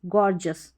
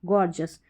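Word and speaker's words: gorgeous: चलिए अब नंबर 21 जो कि लास्ट है, इसमें क्या है, GEON और GION, इसको आप जन करके पढ़ेंगे, और GEOUS और GIOUS को आप जस करके पढ़ेंगे।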